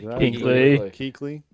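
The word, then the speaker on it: Kuechly: How do you pronounce that? Keley.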